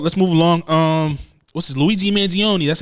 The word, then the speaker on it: Luigi Mangione: let's move on let's move along um what's Luigi Manion that's how you say his name yeah yeah